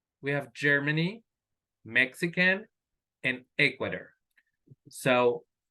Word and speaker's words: Ecuador: have Germany Mexican and Ecuador so the stress is on the first syllable s um like very fast Germany Mexican Ecuador so that is the correct way to be pronounced now be that can